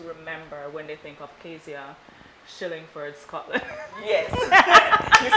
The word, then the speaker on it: Kazia Shillingford Scotland: want people to remember when they think of Kazia, Shillingford, Scotland?